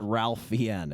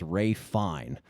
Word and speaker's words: Ralph Fiennes: It is not Ralph Fiennes. It is Ralph Fiennes.